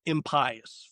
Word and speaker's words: impious: So I wrote a novel, and the way we pronounce this changes based on where you live in the country. So in New Jersey, we say vile and impious wretches. Now, other parts of the country say impious, right?